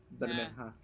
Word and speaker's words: Bermeja: It's Spanish. Bermeja. It's specifically Mexican.